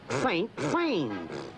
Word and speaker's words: Saint-Saëns: It's pronounced Saint Sains.